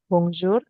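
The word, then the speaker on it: bonjour: Oh ya SS sebut bongjur bisa Ikuti saya bongzur kemudian bongs Oh diikutin ya Pak sor sori Pak saya bagus bacanya sayaih b baca Oke B Oh masih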